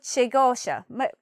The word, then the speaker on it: segotia: you could say, "Me old sagosha, me old shigosha, me old shigosha."